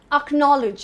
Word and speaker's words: acknowledge: The next word is acknowledge and not acknowledge. Let me acknowledge this for you, but acknowledge. The first sound is again a schwa sound. Acknowledge. The stress is on acknowledge. Let me acknowledge this for you. So no, not acknowledge, acknowledge. The stress is on no. The next one is one